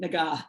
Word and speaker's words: Naga: Hard G, Naga.